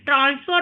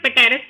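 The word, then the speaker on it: Pteris: ए है टेरिस and equisetum, पेटेरिस मत पढ़ना, पेटेरिस रॉन्ग प्रोनाउंसिएशन है।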